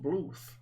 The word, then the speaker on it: Bluth: He's an old man, but pronounced Bluth.